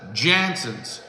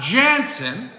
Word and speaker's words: Janson: that are known as janson's you've been produc pronouncing the name wrong for years and years and years it's not Jansen it's Janson okay now it's the first